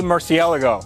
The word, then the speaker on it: Murciélago: my 2003 Lamborghini murciélago and yes that is the correct way to say Murcielago Lamborghini Murcielago now this